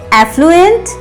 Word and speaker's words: affluent: The fourth pair is affluent and effluent. Little difference in the beginning only. The first word is AFFLUENT, affluent. As sound is longer than usual, affluent.